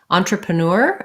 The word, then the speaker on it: entrepreneur: i spell that right entrepreneur is last syllable stress this en sounds like an ah and like our